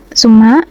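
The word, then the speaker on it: ثم: Summa ini tajwidnya itu gunah. Mim bertasyid. Sebenarnya ini sambung disambung sama inna sebenarnya cuman kita pisah aja biar kalian enggak bingung. Jadi suma itu ee guna mim bertasyid dan dia dibacanya tuh ditekan atau didengungkan selama dua harakat. Jadi summa gitu.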